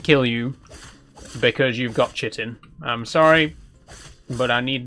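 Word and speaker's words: chitin: It's Chittin. I I believe some people pronounce it kitin. I don't know what the correct pronunciation is to be honest, but I've always just said it as chittin.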